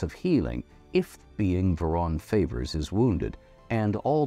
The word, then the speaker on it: Vhaeraun: All right, worshipping Vhaeraun, I'm sorry. Yeah. Worshipping Vhaeraun. Vhaeraun.